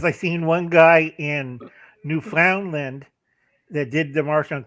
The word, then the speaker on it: Newfoundland: to say it properly it's newfoundland newfoundland i'm american i don't know yeah so so now you know so now you'll know newfoundland newfoundland yep you can land yeah somebody newfoundland newfoundland